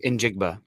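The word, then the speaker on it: Njigba: how to pronounce um in jigba and jigba okay just sound it out there's no silence there um and jig buff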